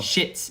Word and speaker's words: Schitt's Creek: Is it Shits or Schmitz? That one. Shits. It's spelled Shits. Well, it's spelled SCHITTS. Yeah. People call it Shits.